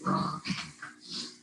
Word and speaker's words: Ra: So even when it's spelled, even when somebody spells it R-E, I would always pronounce it Ra.